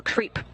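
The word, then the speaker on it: KREEP: weird component that we call creep and it's spelled k r e e p and Central potassium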